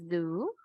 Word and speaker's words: zoo: El guardián del zoológico, zoo, siempre es de vibración, zoo, keeper.